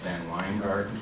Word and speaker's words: VanWyngarden: nice in introduction Jr except my name is pronounced van weard never get JR to